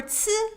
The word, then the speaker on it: ci: For ci, think of a putz without the p.